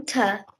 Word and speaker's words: daughter: And how to daughter, we have to make those the A and O, that the GH is silent to make it go do, do, Mhm. her, Do, daughter.